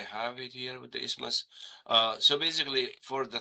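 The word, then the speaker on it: isthmus: Oh, the ismas. Oh, they're talking about the thyroid gland. For the ismas. Yeah, let's do it. Uh, I don't know if I have it here with the ismas.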